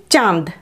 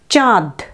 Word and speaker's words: চাঁদ: তাহলে দেখো এখানে চয়ে চন্দ্রবিন্দু আকার দ, উচ্চারণটা কেমন হবে? চাঁদ, না, এই উচ্চারণটা কিন্তু সঠিক হলো না। দেখো আমি যখন উচ্চারণ করলাম তখন দয়েরও একটু নাসিক্য উচ্চারণ হলো, সেটা কিন্তু করা চলবে না। উচ্চারণটা হবে চাঁদ, চয়ে চন্দ্রবিন্দু আছে, সুতরাং চয়ের ক্ষেত্রে আমরা নাসিক্য উচ্চারণ করব। চা, তারপর দ, চাঁদ। চাঁদ নয় কিন্তু, চাঁদ।